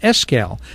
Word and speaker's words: Escalle: Veterans and our guest in studio is escal did I pronounce it right yes you sure did